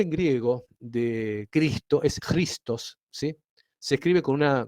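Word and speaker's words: Χριστός: con una x sí la x en griego se pronuncia como una J eh Por eso digo cristos y la p esta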